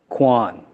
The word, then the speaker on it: qaon: to pronounce your name i'm gonna think it's kom but but how do you say it Quan Quan Quan it's so much easier than it looks right well thank you